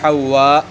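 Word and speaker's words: حواء: بیان فرمایا کہ یہ حوا الف ممدودہ کے ساتھ ہے، حوا کے تلفظ کو بیان فرمایا کہ یہ الف ممدودہ کے ساتھ ہے۔ وَكَانَ خَلَقَهَا مِنْ ضِلْعِهِ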